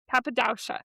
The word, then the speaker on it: Cappadocia: Cappadocia. I had my pronunciation, so I'm sorry.